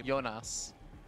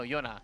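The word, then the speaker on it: Joona: No, the J. Jonas. With an S? No, Yona. Yona. I feel like I always hear a Laser say Jonas, but I think it is just Yona.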